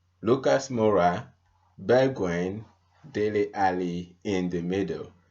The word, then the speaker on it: Bergwijn: Is it Bergwijn? Yeah. Even Mourinho can pronounce that name correctly, so you can't blame me for that.